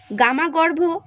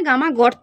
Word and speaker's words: গামা গর্ত: কেনস্প্রাং, স্ক্রি বা talus, গামা গর্ভ। এটা গামা গর্ভ নয়, গামা গর্ত আর কি, আমি গামা গর্ভ বলে ফেলেছি আর কি উচ্চারণে, একটু ঠিক করে নিও, এটা তো গামা গর্ত।